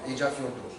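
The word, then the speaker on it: Eyjafjörður: Ils ne prononcent pas le jour à la fin. Okay? Donc, Eyjafjordur.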